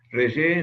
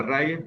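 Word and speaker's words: Reye: Es un cuadro que se conoce como síndrome de ré o de Ray, de acuerdo a como lo quieran pronunciar.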